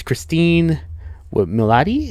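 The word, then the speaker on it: Cristin Milioti: It was Christine Milioti, that's how you pronounce her name, who plays Sophia Falcone.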